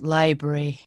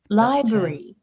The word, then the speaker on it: library: i pronounce it as library trying to sound more british for the consistency i think library yes as if they skip the second syllable as if there is no r or a there yeah right right so